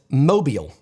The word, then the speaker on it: mobile: whereas where I'm from we actually pronounce this mobile and I know I'm not from Mobile Alabama which is how it's pronounced to have been quite